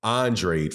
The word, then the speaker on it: Andrade: And Demetrius Andrade, excuse me, I got to start respecting that man enough to pronounce his name correctly. Andrade, forgive me.